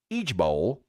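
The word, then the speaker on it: IJBOL: floor laughing or LOL igbol pronounced each Bowl doesn't quite have the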